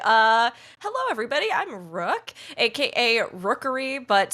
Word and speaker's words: Rookuri: I'm Rook, aka Rookuri, but spelled with U-R-I.